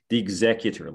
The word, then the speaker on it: executor: I mean, it's normally the executor, like the executor of a state. Oh. Okay. I mean, it's the stress is on a different syllable.